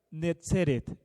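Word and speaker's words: נצרת: Aquí está la clave: Netzeret. Nazaret en hebreo es Netzeret.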